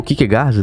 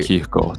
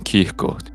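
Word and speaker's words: Kierkegaard: O Kickard, né? O Soren Kickard, meu meu cristão preferido, ele Kirkord, falar direito. Desculpa, como é a pronúncia aí? S Kirkord.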